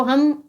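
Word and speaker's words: home: तो यहाँ पर है एच ओ एम ई, तो हम ओ का उच्चारण ओ के रूप में देंगे तो क्या बोलेंगे, होम।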